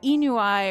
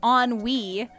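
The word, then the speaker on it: ennui: That's why I'm saying I thought it was Enui or whatever because I remember hearing somebody say it like that even. I was like I didn't even know that's how it was pronounced. But apparently it's not. It's on Wii.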